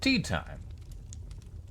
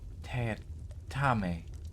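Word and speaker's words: Teatime: the half rug playing with the dogs Mr tea time it's pronounced T tamy sir said tea time with just a hint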